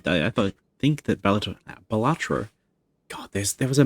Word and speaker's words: Balatro: I I I thought think that Bellator Balatro. God, there's there was a meme in a in a chat I'm in where somebody mispronounced it as Balator.